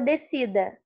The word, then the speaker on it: descida: Então, na palavra descida, por isso que o som do S não sai, porque ele é dígrafo.